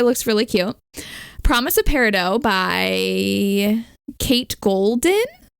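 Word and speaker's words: Peridot: really cute promise of parido by Kate golden parido yeah like the stone I looked it up and that's how you pronounce it that was par dot I think both are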